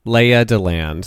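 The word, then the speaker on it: Lea DeLand: So, ladies and gentlemen, please welcome to the stage Leah DeLand. Leah DeLand. Her first name is spelled Lea, and then her last name is spelled little D-E, and then land, capital L-A-N-D.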